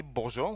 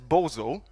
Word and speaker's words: Bojo: can't pronounce this my some of my friends call me Bojo which is cool but Bojo is not the same as Boo and uh to make